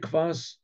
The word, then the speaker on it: kvass: But somebody developed a type of a drink which was called kvass. Kvass, I guess in English you spell it K-V-A-S, kvass.